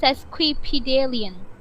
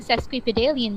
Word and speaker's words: sesquipedalian: बोल सकते हो कि why you are using sesquipedalian, man? sesquipedalian and पे man बोल रहा है No. It's like a Sesquipedalian. expression. S-E-S. seskibideen Oh, no. Q-U-I. क्यों अच्छा इसकी स्पेलिंग भी मुश्किल है sesquipedalian Sesquipedalian.